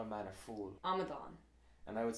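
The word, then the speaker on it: amadán: In Munster Irish, Mm-hmm. the final syllable is stressed. I think a good word to illustrate what we mean is tell me how you call a man a fool. Amadan.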